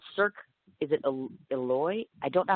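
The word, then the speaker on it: Éloize: associated with the, it's called Cirque, is it Eloy? I don't know how to pronounce that. Eloize.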